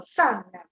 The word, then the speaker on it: son: Allora, innanzitutto son si scrive con la O, ma si pronuncia come se fosse una A, tipo San Francesco, son.